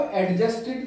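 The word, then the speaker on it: adjusted: मैल एडजस्टेड, यहां पर इसको एक चीज और समझ लीजिए आप, कभी भी डी और जे इकट्ठे आएंगे तो डी साइलेंट रहता है, तो इसको एडजस्टेड नहीं कहते, इसको कहते हैं एडजस्टेड।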